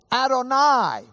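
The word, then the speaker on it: Adonai: or work with someone, they know not to pronounce that name. If they're reading their Hebrew text, if they're Jewish, especially when they read it, they'll say, "Adoni." You remember Adon means Lord, Adoni, my Lord.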